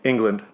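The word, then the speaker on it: Englund: Unland. I can't pronounce his name. Robert Unland. England.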